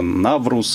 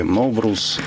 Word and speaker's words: Навруз: Его написание и произношение могут быть в разных странах по-разному. Угу. Это Наврус в переводе вообще означает новый день. Новый день. Да, новый день. И его могут говорить как Новрус, Наврус, угу. Неврус, Наурыс, Ноурыс.